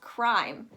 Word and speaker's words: crime: following word right here, you're actually going to pronounce that I as an I sound. You're not going to pronounce it as crumb E, although I don't hear many people say that. You're going to pronounce it as crime.